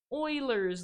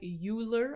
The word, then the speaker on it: Euler: these points lie on this red line called euler's line and i know that uh this looks like euler and that's how i pronounced it in high school it is actually